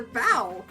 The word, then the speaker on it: bow: i read that part it's not a bow it's a bow then again they're both spelled the same so it kind of